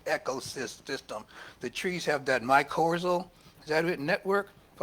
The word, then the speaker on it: mycorrhizal: The trees have that mycorrhizal, is that it, network, if I'm saying it right?